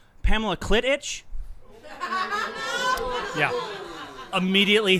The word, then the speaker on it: Kleitch: Josh did a great job of announcing us, saying it correctly, Kleitch although he did have to be Brothers.